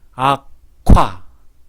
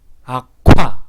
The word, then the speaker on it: 악화: 한번 연습해 보겠습니다. 악화, 악화. 바람이 갑자기 팍 터지면서 침이 튀어나오죠.